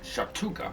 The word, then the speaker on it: Shactuka: Shhatuka, I think is how you say his name.